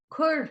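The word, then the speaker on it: cuir: the ipod bit can you say that again kur is the command c-u-i-r and how do you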